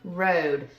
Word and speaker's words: road: This word is going to have a long O sound because it's two vowels, and the A is going to be silent. So we know this word says road.